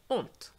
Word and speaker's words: honte: So you would really pronounce the H, honte, instead of honte. But nowadays, there's no difference in terms of pronunciation because the H is just silent.